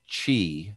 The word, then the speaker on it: Qi: wireless charge they use qi 2.0 which is pronounced chi by the way and that is the charging